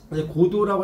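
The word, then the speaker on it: Godot: 고도라고 할때 이제 T자는 발음이 안 돼요.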